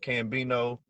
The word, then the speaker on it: CcCambino: some more people here spelled with three C's but it's just pronounced cambino you know I'm uh